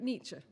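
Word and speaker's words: Nietzsche: have just read out when correctly pronounced sounds like a sneeze friedi nicher n's life ended in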